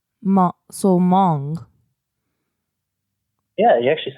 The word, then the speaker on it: Hmong: about H mo ang but the H is silent MA so Hmong yeah you actually said